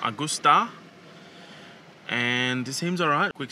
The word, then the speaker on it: Augusta: Is it pronounced Augustus? No. Augustus. It's Augusta. Augusta.